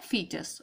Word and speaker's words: foetus: अब FOETUS होता है बेटा, लेकिन इसे प्रोनाउंस क्या करते हैं, फीटस।